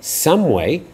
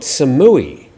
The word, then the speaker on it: Samui: themselves Thomas douly says please Tim would it be possible for you to pronounce Samui correctly here on the island we say samway not Samui so can't say I've